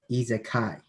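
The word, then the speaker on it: isekai: is an easy kai it's pronounced izakay it's basically about someone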